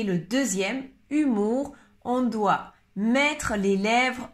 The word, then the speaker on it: humour: Humour, humour, humour. La différence, c'est, attention, le O et le U qui se prononcent OU. OU. À la différence du premier, heure. Alors, pour prononcer le deuxième, humour, on doit mettre les lèvres un peu plus